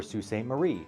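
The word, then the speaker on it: Sault Ste. Marie: And we get a kick out of teaching non-M Michigan friends how to properly pronounce places like Ipsalani, which is Ipsalani or Sue Staint Marie.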